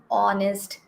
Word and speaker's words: honest: Because our pronunciation is starting with the letter O, not with H.